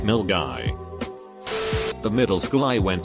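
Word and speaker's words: Milngavie: guy which is Scotland mill guy is pronounced mill guy the middle school I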